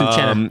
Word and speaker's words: Uchenna: How do you say Uchenna. I can't say it, but I love it. It's Uchenna.